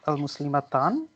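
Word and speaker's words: المسلمات: How would you pronounce the plural of women? As al-Muslimatan? The plural you would say al-Muslimat.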